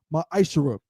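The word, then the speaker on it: מעשר: You can find this in numbers 18 and 21 and Malachi 3:es 8-10 means 10th in Hebrew and it's pronounced maisher 10% of every penny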